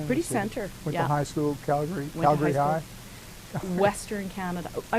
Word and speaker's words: Calgary: alberta from both no i just like how calga calgary calgary is pronounced differently than how it's spelled and edmonton is pronounced different it's like we can't put consonants in there or something when you're from alberta i